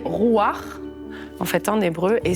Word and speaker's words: Ruach: on était à Jérusalem on avait une manière de prononcer ça là et on nous a dit Aï on prononce pas ça comme ça donc on dit rouir en fait en hébreu